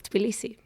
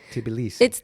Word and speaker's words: Tbilisi: Tbilisi. It's hard because there's no vowel between t and b.